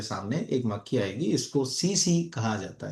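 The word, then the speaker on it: tsetse: और ये एक मक्खी से होती है, उस मक्खी का नाम है CC। CC स्पेलिंग है TSE।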